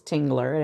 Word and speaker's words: Tingler: And my married last name is Tingler, and it's spelled Tingler. If you need help pronouncing it, throw a second G in there. You'll get it right.